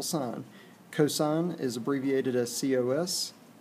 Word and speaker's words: sine: is SI unique but they abbreviate it as si n that's not pronounced sin it's still sine cosine is abbreviated as